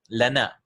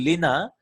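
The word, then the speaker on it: لنا: pronoun, it becomes la, lana. It's actually lina, but because the Arabs had a difficulty pronouncing lina and lina, they changed it to lana.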